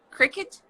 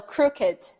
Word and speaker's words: crooked: Isn't it cricket? Cricket? No, crooked.